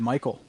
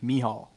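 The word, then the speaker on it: Michał: I will say, Quinn, I think you might have pronounced his first name wrong. You said Michael. Michael? Is it Michelle? I've heard Michelle? it might be Mihal.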